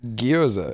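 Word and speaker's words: gyoza: Guoza. Goza. That's fine. It's guzza.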